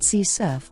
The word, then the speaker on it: CSRF: Cross-site request forgery, also known as one-click attack or session riding and abbreviated as CSRF or sometimes pronounced CSRF or XSRF.